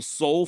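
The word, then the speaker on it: Sowle: But according to the actual soul family, I'm talking Silus's great great nieces and nephews, it is pronounced soul.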